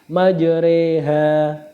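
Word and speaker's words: مَجْرٰىهَا: majreha wa mursaha innabiofururahim maj bacanya bukan maj tapi majha ya selanjutnya ismam yaitu isyarah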